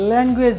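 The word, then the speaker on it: language: বয়স আমরা জানি এজ এই এজ যদি থাকে কোনো শব্দের শেষে তাহলে সেক্ষেত্রে আমরা ইজ উচ্চারণ করবো তাহলে এটা হচ্ছে মর্গেজ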